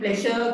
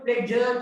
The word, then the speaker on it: pleasure: ඔය වචනේ pleasure කියනකට වඩා පුතාලා British pronunciation එක තමයි pleasure කියලා කියන්නේ. j කියන sound එක. sure නෙමෙයි j.